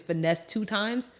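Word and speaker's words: Finesse2Tymes: think his name is Finesse 2 times. Finesse times 2. Finesse? No, Finesse. No, it's literally Finesse and then the number 2, TYMES, I believe, allegedly.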